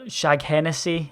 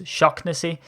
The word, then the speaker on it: Shaughnessy: Shaughnessy, or Shaghennessy, as it's said sometimes, is Shocknessy, in actual fact, because we do get that from time to time.